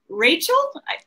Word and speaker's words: Racheal: your host Brooks pagaron and today's guest is Rachel some people would say it Rachel or maybe Rachelle I never know it's my said Rachel yeah